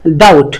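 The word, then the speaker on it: doubt: vowel আছে সে কষেত্রে আমরা বিটাকে pronounce করবো না বিটা সাইলেন্ট থাকবে অর্থাৎ এটা হবে ডাউট বিটা প্রনাউন্স করলাম না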